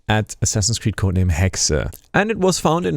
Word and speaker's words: Hexe: year and it's pronounced hexa because hexa is actually a German word and I'm from Germany so it's not hexi it's hex almost like